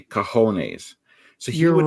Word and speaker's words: cojones: There's no way Rocky should be saying cajones because he never saw it written down. If you saw that written down, you would mispronounce it if you didn't know the J sounds like an H.